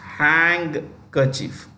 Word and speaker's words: handkerchief: write is a handkerchief it's pronounced hang kerchief remember is pronounced with